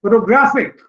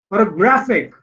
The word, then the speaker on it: photographic: And then photographic, photographic, graphic is being stressed. This word also consists of 4 syllables, and the third syllable here has been stressed.